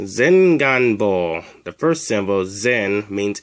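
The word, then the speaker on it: 前眼房: teach you how to say anterior chamber it's pronounced zin gunbo the first symbol zen means in front of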